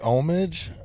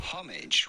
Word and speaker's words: homage: about this French man homage while the American pronunciation does not deliver the H sound quite as much homage homage so American is homage and the British is homage okay but I think